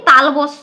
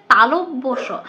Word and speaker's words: তালব্য: না কথাটা হচ্ছে বর্গীয় আমরা কি বলি তালবস বলি কথাটা তালবস নয় কথাটা হচ্ছে তালব্যস আমরা কি বলি অনুস্কার